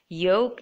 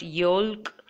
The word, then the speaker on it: yolk: Yolk, it's not yolk. It's not chalk, it's yolk, chalk, balm, walk, half, it's not half, it's half, and calm.